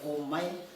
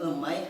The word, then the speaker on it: Умай: Азербайджанцы говорят Омай. Мы говорим Умай, на русском Умай пишут, а у меня тетя вообще произносила Омай.